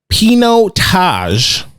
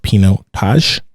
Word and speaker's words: Pinotage: really need to taste and he said a pinot taj without hesitation this was the we we asked